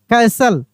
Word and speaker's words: castle: Soon they reached, REACHED, reached the, soon they reached the old castle, ठीक है ना, T silent है, याद है ना, कैसल।